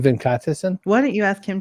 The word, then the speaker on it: Venkatesan: In my head, I'm saying Venkatesan or Venkatesan. No, Venkatesan. Say it again, Venkatesan.